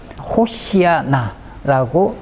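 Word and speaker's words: הושיעה נא: 구하옵나니 이제 형통하게 하소서 히브리어로 호시아 나라고 발음합니다 자 두 개 단어입니다 호시아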